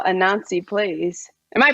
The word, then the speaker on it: Anansi: pretty interesting i'm very curious to hear how a nancy plays am i pronouncing it right yeah you do you do